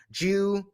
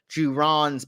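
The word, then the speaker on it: Gibran: So on Thursday, this guy is Khalil is how you say his name, Juran.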